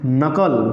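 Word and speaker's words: knuckle: word meaning this is what के नो no this is completely incorrect this is not this is not this is not okay don't worry I will tell you the right meaning of their word meanings also okay हां but have a patience this is नकल this is नकल this is नकल this is called as नकल बताओ इतनी बात समझ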